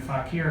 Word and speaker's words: Fauquier: He moved to southern Fauquier County. Did I pronounce that right?